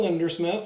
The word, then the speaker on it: Lindersmith: So, Lindersmith.